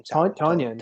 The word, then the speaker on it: Tonyan: it I'll, Towan or Towan? Is that how you pronounce his name? Tonyan.